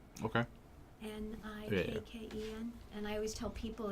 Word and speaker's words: Nikken: The company's name is Niken. Okay. Nikken. And I always tell people it's like your knee Yeah. and Barbie's boyfriend. Okay. All right? Yeah. That's how we pronounce it.